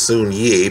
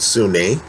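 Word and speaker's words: Soon-Yi: i believe it looks like it should be pronounced soon ye but they pronounce it sunni sunni and woody allen have come out and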